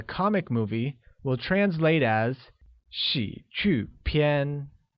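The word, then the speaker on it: 喜剧片: movie will translate as she qu PN which is pronounced with the falling rising tone on I a falling tone on you and a high level tone on a let's try it again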